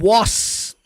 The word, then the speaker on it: was: Você não vê ele falando was. Não, é um pouco mais leve. Segundo a transcrição fonética dessa palavra, você pronuncia com um somzinho de Z e com o som do a, was.